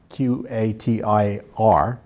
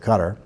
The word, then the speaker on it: Qatar: And our erstwhile ally, Qatar, Qatir, I pronounce it Qatar, is funding Texas A&M, a public university.